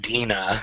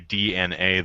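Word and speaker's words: DeNA: See, I've always just pronounced it Dina. I'm like, yeah, from what I understand, it is actually DNA though, but I keep wanting to call it Dina or Dana.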